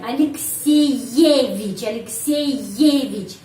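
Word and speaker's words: Алексеевич: Jadi kalau huruf Y ada sehabis huruf vokal apa saja, huruf vokal A, U dan lain-lain, dan Y juga, huruf Y pengucapannya benar-benar Y. Alexeyevich, double Y ya, Alexeyevich.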